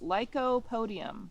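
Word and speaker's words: Lycopodium: yes good so there's a word and it's pronounced Leo Podium can you say Lop Podium leop Podium yes and this plant that we're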